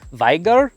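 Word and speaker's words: Wieger: engineering these, they decided to use a German Weaguer. I think that's how it's pronounced. Wigger. Viger. Viger.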